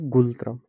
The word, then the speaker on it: Ngultrum: इसकी करेंसी है नगुलत्रम। नगुलत्रम है इसकी करेंसी। कुछ बोलते हैं गुलत्रम, एन साइलेंट करके, NGULTRUM।